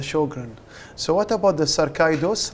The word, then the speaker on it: sarcoidosis: So what about the sarcoidosis, right? I pronounced it correctly? Sarcoidosis.